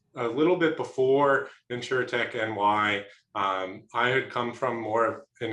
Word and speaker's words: NY: It's NY. NY. All right. I've been saying it wrong. I've been mispronouncing. Yeah, a lot of people do as well. Yeah, sometimes we say InsurTech New York ourselves, but officially it's NY.